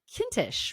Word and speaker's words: Kintisch: So I with that I am very very excited to introduce my new friend Benjamin Kintish. Rhymes with Mintish.